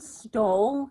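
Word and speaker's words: Stohl: by Camy Garcia and Margaret is it stall is that's how you pronounce it yeah the first book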